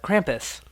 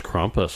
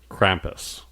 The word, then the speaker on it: Krampus: to say his name I thought it was kumus I this whole time I thought but I was wrong see now you got